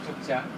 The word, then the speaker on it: Jogja: Originally the writing with Y, but we pronounce with Jogja because with D and J, the old Indonesian, they wrote it Jogja.